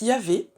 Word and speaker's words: Yahvé: Alors, le tétragramme qu'on prononce Yahvé, c'est le nom le plus employé dans l'Ancien Testament.